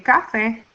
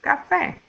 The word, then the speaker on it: café: Even though it finishes in a vowel, we don't say café, we say café.